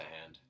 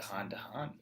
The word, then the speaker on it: Han: The ship just seems to go from hand to hand all the time. Mm-hmm. To Han. Ooh. So Lando calls Han like immediately, or Han. Yeah. Immediately. And he's like, that's wrong, but that's fine.